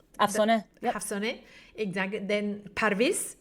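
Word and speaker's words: Afsaneh: I'm going to pronounce it as I normally would do in Spanish. Hafsone. Yeah, that's Afsone.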